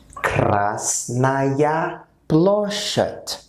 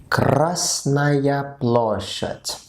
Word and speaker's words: Красная площадь: Красная площадь. Красная площадь. Красная площадь.